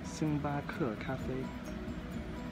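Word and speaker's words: 星巴克咖啡: And the way to pronounce it is Xingbake Cafe. Xingbake Cafe. It sounds like I'm singing a song, but that's the way to do it with the right tones and everything. Xingbake Cafe.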